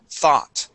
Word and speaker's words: thought: word thought right here the o u g makes an a sound the word is thought that nice job very